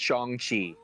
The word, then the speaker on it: Shang-Chi: is pronounced Shang-Chi.